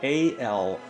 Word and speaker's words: Alraune: And I know the first time I told you this, I ought to spell it because it's hard to figure out my pronunciation. Alraune.